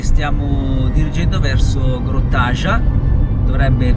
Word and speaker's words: Grjótagjá: Adesso abbiamo preso la strada e stiamo dirigendo verso Grottaja, dovrebbe pronunciarsi così.